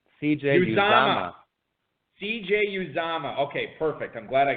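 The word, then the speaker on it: Uzomah: Cincinnati tight end CJ and how do you pronounce his last name properly that's going to be you Zama cj's mom CJ use Dom okay perfect I'm glad I got this right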